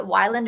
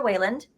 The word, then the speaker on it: Weyland: names are no director Whalen because I wrote down how to pronounce it because I'm always like is it Wyland or is it Weyland but it's director Weyland and the other antagonist